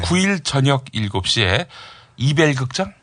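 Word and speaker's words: Ebell: 이벨이야, 에벨이야. 이벨. 에벨이 아니라 이벨. 이벨 극장.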